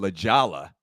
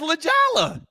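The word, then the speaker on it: La Jolla: California just trust her is it spelled correctly that spells leala well well l a j o l l a Douglas it is spelled correct honey but Hispanic like a Hispanic term okay Spanish uh loose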